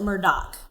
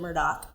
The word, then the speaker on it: Murdaugh: It's spelled Murdaugh, but you pronounce it Murdaugh, like Murdock, even though it's Murdaugh. So we pronounce it Murdaugh, and it all kind